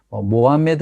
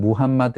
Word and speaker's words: 무함마드: 누구입니까 마음의 뜨죠 예 모아 매드 라고도 부르고 모험의 c 라고도 하고 영업시간 발음으로는 무함마드 이렇게 부르는데 아무튼 마음에 트